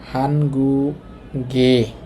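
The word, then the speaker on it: 한국의: তো দেখেন আমরা জানি যে উই এটা র অথবা এর বুঝালে তখন উচ্চারণ হবে এ। তো এখানে দেখেন হানগুক মানে কোরিয়া, এখানে লেখা আছে কোরিয়ার, তার মানে র বুঝাচ্ছে। হ্যাঁ, তো এটা এ হবে, সুতরাং উচ্চারণ হবে, আমি লিখে দেই, হানগুগে, হানগুগে কোরিয়ার। এই গিয়ক উপরে গিয়ে এ হইছে।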